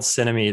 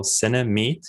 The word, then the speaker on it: Cinemeet: the app is called cinemate it's uh it's spelled like cinema and meeting somebody so cinemate you can search on